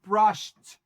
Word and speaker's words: brushed: وكمان عندي has brushed b r u s h e d. بس المستر نطق e d هنا ت. Brushed.